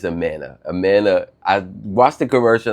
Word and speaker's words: Amana: I see I say I keep saying it wrong. I don't know, it's fine. I think it's the New Yorker in me saying Amana, but it's Amana.